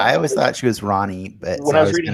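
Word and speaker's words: Rahne: did you always think her name was pronounced ronnie no you always thought it was raining yeah when i when i read it in the comics i always thought it was ronnie because it's it's spelled r-a-h-n-e i don't know how i don't know how you get rain from that yeah i was gonna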